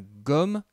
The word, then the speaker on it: gomme: C'est la gomme qui nous sert à effacer. Tu vois que le G est suivi du O et donc le G se prononce G.